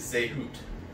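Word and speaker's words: זהות: Hebrew man, is zehut. That's how it's pronounced. I had to Google how to pronounce it because all there was spelling and I did not know how to pronounce the squiggly lines. In the English, the phonetic writing is Z-E-H. Hyphen H-O-O-T, which literally translate this-ness.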